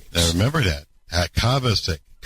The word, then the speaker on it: Kovacic: Kavasic. Kavas. Kabasik. Kovas. It's not like Kovasier.